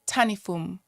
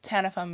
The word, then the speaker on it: Tanifum: If you went to my country, they would say Tanifum, but Okay. Tanifum is like the Americanized.